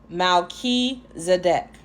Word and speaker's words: Melchizedek: It says Melchizedek is pronounced Malki-Zedek, whose name means King